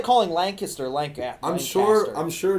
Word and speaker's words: Lancaster: Lancaster Lan how do you say I say Lancaster there you and they also ask questions and